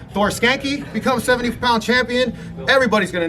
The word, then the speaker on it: Skancke: Thor, your last name is pronounced Skancke. Skancke.